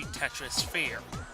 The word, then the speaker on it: Tetrisphere: See, Tetrisphere. So it's Tetris, but you don't pronounce the S. You pronounce it with the... You pronounce the S as, like, sphere.